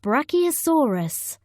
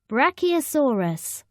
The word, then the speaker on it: Brachiosaurus: than its back legs how do you say it Brachiosaurus say BRAC e o saw us in the forest many